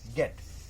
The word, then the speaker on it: gate: गेट क्या पढ़ेंगे इसको, गेट।